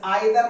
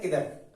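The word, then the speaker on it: either: या अपने पास आ जाए आइदर, वैसे आइदर नाइदर नहीं बोलते, इसे बोलते हैं निदर, इसे बोलते हैं इधर, इधर निदर, बट हम इसको बोलते हैं नाइदर आइदर। तो सही प्रोनाउंसिएशन निदर है, इसका प्रोनाउंसिएशन इधर है।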